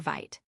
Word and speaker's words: Vite: However, in recent years, a newer, faster build tool and development server called Vite has become the recommended choice for starting new Vue.js projects. Vite, pronounced vit like vite in French meaning quick, stands out because of its incredible speed during development.